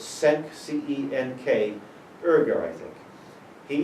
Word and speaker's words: Cenk: yeah, the U-boats, his name is, I'm not pronouncing his name right, it's Cenk, C-E-N-K, Erger, I think.